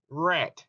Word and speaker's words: read: past participle of read although the spelling is the same the pronunciation is different it is pronounced as red the red color ow